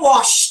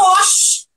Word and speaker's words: wash: What will you wash? Tá bem, watch, gente? Carioca sabe falar wash. Wash. Que o SH é som de X.